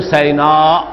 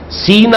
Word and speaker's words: سینا: لفظ آیا ہے طور سینا، سینا اور سینا دونوں اس کے تلفظ ہیں۔ سینائی پیننسولا، آج